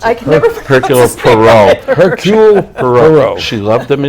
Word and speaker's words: Hercule Poirot: the character of her coat i can never pronounce I kept Hercule Poirot Hercule Poirot she loved them in books she